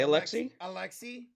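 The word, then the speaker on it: Aleksej: I got, oh boy, guy Josh, help me pronounce his name. Posavelsky, right? Alexei, say Alexei.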